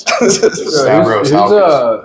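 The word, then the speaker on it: Stavros Halkias: I gotta make sure Stavros Halikas, make sure I say his name right. Stavros Halkis.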